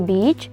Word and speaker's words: beach: The border was the beach, so they would never fight again. And be careful with this pronunciation. Beach. It should be long A. So it is beach instead of beach.